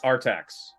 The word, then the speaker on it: Artax: Yes, Artax.